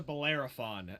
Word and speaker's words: Bellerophon: Athena was a great God so wrong to Bellerophon that's how you properly pronounced it for anybody questioning me okay I